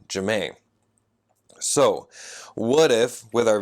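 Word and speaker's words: Jam'ie: her name and so her name is Jay am apostrophe IE and she want people to call her Jemaine so what if with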